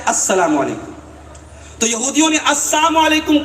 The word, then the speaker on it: السلام علیکم: جہالت کی بات ہے۔ صحیح تلفظ کیا ہے؟ السلام علیکم۔ تو یہودیوں نے السلام